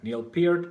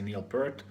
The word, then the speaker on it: Neil Peart: You have to say it right, Neil Peart, because otherwise you're gonna be banned from Google and from the planet forever. So don't ever say Neil Peart, because the Rush snobs